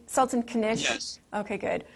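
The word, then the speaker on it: Sultan Knish: Sultan Kanish?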